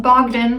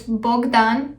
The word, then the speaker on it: Bogdan: bogdan yes bogdan is romanian and it's not pronounced bogdan like they do in the show it's bogdan anyway i digress so at this point in